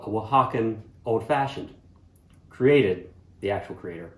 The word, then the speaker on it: Oaxaca: you like drop it in and that's your oaxacan old fashioned cheers let's just get some of the housekeeping out of the way here uh it's pronounced oaxaca a x c a x a c e